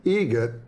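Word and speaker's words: Eget: It's a joke, an Adam Egget joke. How do you say the name? Adam Egget. Egget, spelt differently. Like the bird. That's Egret.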